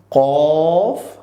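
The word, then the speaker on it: ق: যে নুক্তা ওয়ালা কফ এটাও আমাদের ঠোঁটকে একটু গোল করে আমরা বলব কফ আবার বলছি কফ এর পরবর্তী বর্ণ হচ্ছে একটু মুখ ছেড়ে দিয়ে বলবো কাফ দুইটাই আমরা অনেকেই গুলিয়ে ফেলি যে সেইম সেইম মনে হয় একটা হচ্ছে কফ আমাদের ঠোঁটকে গোল করে যেটাতে নুক্তা রয়েছে যে দেখতে গোল আমাদের ঠোঁটটাও হবে গোল কেমন কফ কেমন এরপর হচ্ছে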